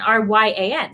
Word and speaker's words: Rion: So I was born Ryan, R-Y-A-N. So you pronounce it Ryan. But then I found out that the original spelling of it was Rion, R-I-O-N.